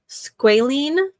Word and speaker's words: squalene: But yeah, they have hand cream, foot cream, and they have squalene like oil, but not the kind from sharks.